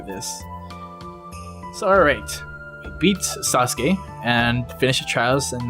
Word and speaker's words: Sasuke: He actually pronounced his name Sasuke. I guess the U is silent.